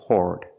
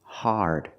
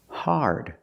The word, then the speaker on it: hard: We don't say hard. The word is pronounced hard. It's an open sound, R, connected to the R, like when you say car and far. Hard.